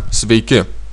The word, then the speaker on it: sveiki: Надо обратить внимание на то, что нужно, что ударение в конце слова свейка, свейки в этих двух словах.